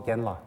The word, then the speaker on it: genla: can call them is we call them genla ge n l a gen means teacher or elder monk la is respected one.